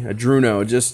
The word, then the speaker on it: Arduino: It just sounds so much better saying Arduino. Okay, good, he's still watching. Beautiful. I don't know, man, that's me. People say washer, I say warsher. Donkey's donkey. Arduino. That's how I've always pronounced it since I owned my Cheerson CX-20. When we did Pixhawk and that. So it's Ardu Pilot. I get it. It looks like it's spelled Adruno. I just like the way Adruno sounds.